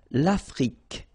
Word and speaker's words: Afrique: L'Afrique. Same thing here. Final it's only the k at the end that you will hear.